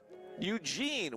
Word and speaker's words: Eugene: By the way, Eugene with the second syllable accented.